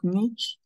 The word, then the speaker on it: niche: So let's look at niche, what a niche is. Some people pronounce it as niche and some pronounce it as a niche.